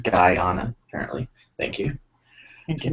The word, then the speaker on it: Guyana: It's pronounced Guyana, apparently.